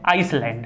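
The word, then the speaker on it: Iceland: ऐसे जिसका नाम है आईसलैंड है इसका नाम क्या है ए साइलेंट है तो यह आईसलैंड को क्या करती स्पष्ट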